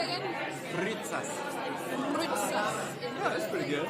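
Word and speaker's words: rytsas: Ritzas. Say it again. Ritzas. Rutsas. Yeah, that's pretty good. Rutsas. No. U. Like in French, like a French U. Rutsas. Ritzas.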